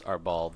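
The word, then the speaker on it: árbol: I don't know how to pronounce Arbol. The accent's on the A, so.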